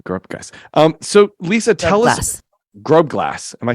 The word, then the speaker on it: Grobglas: Grobglas.